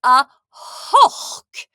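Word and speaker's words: a h-ochd: And then our last one for today, it's got that same sound at the end of it. It's for 8 and it's a hoch. A hoch for 8.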